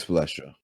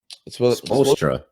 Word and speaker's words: Spoelstra: So I will say Eric Spoelstra. Okay, one, that's not how you say his name. How do you say his name? Spoelstra.